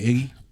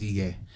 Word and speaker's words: Ige: the president of the university showed up, yes, Governor Iggy. right? Is that how you Ige? say his name? I think it's Ige.